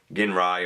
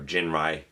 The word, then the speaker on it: Ginrai: or if you prefer gin rai or jin rai people pronounce it different ways um yeah again just